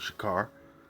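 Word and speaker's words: שחור: let's see here so we got this different word which the word right here is shakar alright that's the real word shikar and that is how you say black in the hebrew to be black to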